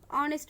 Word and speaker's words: honest: Students, notice that this word honest man, honest, here the first letter is H, but honest এর উচ্চারণ হর মতো honest-এ H এর উচ্চারণ হর